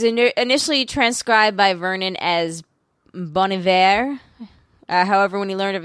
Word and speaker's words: Bon Iver: made that way germany the whole thing is the h isn't pronounced so that's why he can remove it it doesn't change his pronunciation gotcha yeah um it